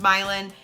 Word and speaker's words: Milan: a map before and thought is that Milan like Italy nope it is pronounced milin and people are making